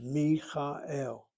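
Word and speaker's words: מיכאל: So you assume that the emphasis is on the last syllable, Michael, and the kamatz that's medial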